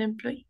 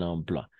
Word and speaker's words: emploi: Étant donné que tu as eu ton diplôme, tu peux chercher un emploi. Ok, diplôme et emploi, d'accord? OI siempre va a ser wa, OI siempre va a